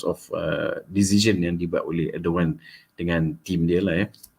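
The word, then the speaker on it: Erdoğan: Bukan Erdogan lah, ramai orang baca Erdogan. No. The G is pronounced as Erdogan because this mentioned by my colleague in Turkey.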